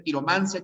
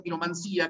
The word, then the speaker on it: quiromancia: Puede ser quiromancia, quiromancía, cartomancia o cartomancía, nigromancia o nigromancía. Pero se prefiere la terminación sin tilde, ¿no? Quiromancia, cartomancia, que es como pronunciamos nosotros.